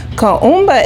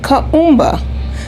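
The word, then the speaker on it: Kuumba: Kumba is spelled K-U-U-M-B-A. You can say Kumba.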